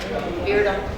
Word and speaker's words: Beardum: And Peggy Beardum is from, did I pronounce that right? Close. I can spell it better than I got, because you told me how to spell it. How is it pronounced? Beardum.